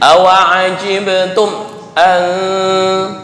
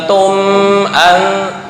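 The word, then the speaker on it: أعجبتم أن: Kayak awajibtum an, bukan tum an.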